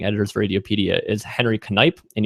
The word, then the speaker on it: Knipe: He's one of the managing editors for Radiopedia, is Henry Knipe, and you actually pronounce the K.